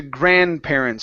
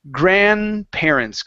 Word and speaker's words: grandparents: here to grandparents so in this word do not not worry about the D sound okay we're actually going to skip through it so we're going to say grandparents go to the n and then the P grandparents grandparents okay and it's